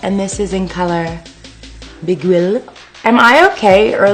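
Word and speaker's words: Beguile: What I'm using now is the MAC Brow Set, and this is in color Biguil. Am I okay, or like, are they making these words really hard to pronounce? Biguil. B-E-G-U-I-L-E, Biguil.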